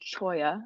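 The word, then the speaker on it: Cholla: So, Michael asked me if I'd be willing to talk a little bit about um my code um which is pronounced choya.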